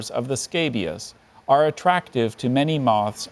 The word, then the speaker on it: scabious: The nectar-rich flowers of the scabious are attractive to many moths and butterflies.